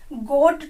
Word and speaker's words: gotta: कर सकते हैं, क्योंकि गोट टू से बन जाता है गोटा, GOTTA, गोटा। यहाँ पर आधा टे है, ठीक है, उसका प्रोनाउंसिएशन गोटा होता है, तो उसको हम कैसे प्रोनाउंस करेंगे? गोटा बोलकर, आई एम गोटा ड्रिंक वाटर।